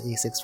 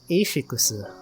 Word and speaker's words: ASICS: Actually, it's not even pronounced ASIC, it's pronounced Ashikusu, which I guess is ASICs, but...